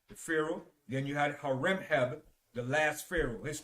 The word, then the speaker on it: Horemheb: And Horemheb was the last pharaoh. Okay, but I'll just spell Amenhotep for you. It's spelled A-M-E-N-H-O-T-E-P.